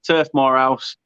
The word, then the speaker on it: Turf Morehouse: I don't know why I say it in like 3 syllables. It's Turf Morehouse, my last name and the turf. So yeah, Turf Morehouse. Get on over there. Well, yeah, it is 3 syllables, but I say it like Turf Morehouse, like it's 3 separate words.